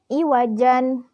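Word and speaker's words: عوجا: Cara membacanya tanwinnya dihilangkan dan panjangnya 2 harokat. Karena asalnya ini iwajan karena memiliki sifat atau mempunyai hukum mad iwad berarti dibacanya dihilangkan tanwinnya jadi iwaja.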